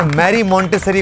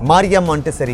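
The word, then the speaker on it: Maria Montessori: नाम गलत लिया। अब वो मारिया कहते हैं, बाज वो मारिया कहते हैं, बाज मैरी कहते हैं। एक्चुअली वो इटालियन हाँ, उनके वो प्रोनाउंसिएशन वाले मामला था। मारिया मोंटेसरी कह रहे हैं, वो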